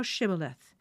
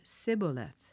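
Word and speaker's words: Shibboleth: Then they would say to him, "Say now, Shibth." But he said, "Scaleth." for he could not pronounce it correctly.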